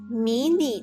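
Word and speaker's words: 迷你: Alright, so the next one, mini skirt, 迷你裙. 迷你裙. mini 裙. So mini literally phonetically translated from mini.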